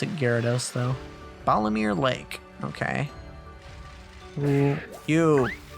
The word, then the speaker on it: Gyarados: calm waters excuse me mr gyarados mr giarados as it's spelled most people just pronounce it gyarados though balomir lake okay you you oh you